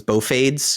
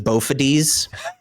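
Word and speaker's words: Bophades: Uh, he made a character whose name I did not know how to pronounce until the stream. Uh, I thought it was Bofades.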